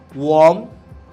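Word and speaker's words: womb: যেমনটা আমি বললাম, ল্যাম্প, বম, ওয়ার্ম, টুম, প্রত্যেকটা জায়গায় আমরা কি দেখি, বি ইজ সাইলেন্ট।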